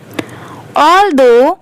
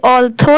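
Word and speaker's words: although: He feels peaceful while working in nature watching green crops grow slowly brings happiness to his tired heart ऑलदो इसे ऑलथो नहीं pronounce करेंगे ऑल दो okay यह है farmers work very hard many people do not respect them enough.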